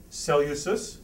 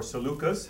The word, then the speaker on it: Seleucus: one of which is cell uses or Seleucus however you want to print pronounce it I admit a spelling